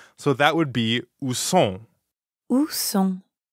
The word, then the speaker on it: sont: So that would be où sont. Où sont. Right. Où sont. Sont. Sont. Sont is nasal, so it rhymes with bon, like at the beginning of bonjour.